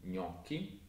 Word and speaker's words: gnocchi: If you see a C-H spelling in Italian, it's actually pronounced as a hard K sound, not as a soft ch sound as it would be in English. So it's the opposite to in English. Like in gnocchi and zucchini.